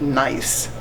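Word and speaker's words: gneiss: It's pronounced nice. The G is silent, so it's pronounced as you would say, he's a nice person, N-I-C-E.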